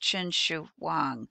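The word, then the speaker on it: Qin Shi Huang: is third century bce and his name is pronounced chin shu huang we're going to call him the first emperor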